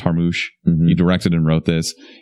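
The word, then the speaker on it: Jarmusch: this this is Jim I think it's pronounced har moosh you directed and wrote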